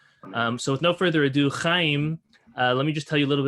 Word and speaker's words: Chaim: So with no further ado, Chaim, let me just tell you a little bit about his professional background.